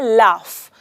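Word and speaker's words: laugh: हमेशा ध्यान में रखें अगर आप देखेंगे इस वर्ड में एंड में जी एच है ऑलराइट लेकिन जब हम यह बोलते हैं तो हम कहते हैं लाफ ऐसे लगता है एंड में फ का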